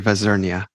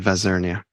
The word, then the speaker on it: Vazirnia: has given me permission not to try to mispronounce his last name why don't you tell us Dr Arya vazernia last name vesernia well it's not so bad thanks for having